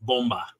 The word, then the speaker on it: Bomba: Also, the only Masterson said properly on that video, Bomba.